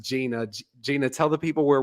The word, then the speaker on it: Jeanna: it's wild yes well Gina thank you so much and for the listeners when you look her up if you're not listening it's it's spelled j-e-a-n-n-a uh but it's it's pronounced Gina Gina tell the people